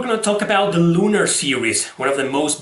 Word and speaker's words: lunar: Hey, did you know that lunar means mole in Spanish? Yeah, it's pronounced lunar.